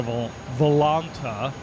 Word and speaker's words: Volanta: I'm going to go over to Volanta, as I've been told is pronounced.